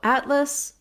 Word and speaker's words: atlas: relaxed tongue so um in the dictionary i might see the schwa luss atlas i'm just going to have no tension and be very brief and reduced on that vowel so atlas for syllable stress when